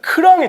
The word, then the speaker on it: 크랑이: 크랑이 치킨. 크랑이. 오. 네, 크랑이. 제가 약간 버터 냄새나게 발음을 했는데 네. 예, 호랑이이기 때문에 크랑이. 네.